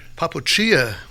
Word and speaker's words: Papoccia: Papoccia sounds Papoccia. Italian.